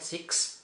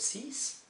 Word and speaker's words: six: So, this X is pronounced as an S. So, it's not six, but sis.